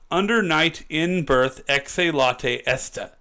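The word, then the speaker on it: Under Night In-Birth Exe:Late[st]: So it's Under Night in Birth Exe Latte Esta. Interesting. Right? That's how they pronounce it, at least.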